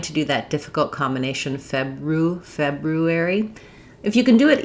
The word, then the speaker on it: February: We stretch the first syllable, feb, because it's stressed, and the other three go quickly.